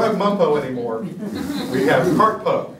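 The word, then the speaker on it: CRTPO: We have CARTPO.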